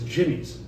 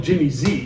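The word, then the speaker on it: Jimmy'Z: okay, but it was Jimmy's. You rode for Jimmy's? But people called it Jimmy Z. Yeah. But it was actually pronounced Jimmy's.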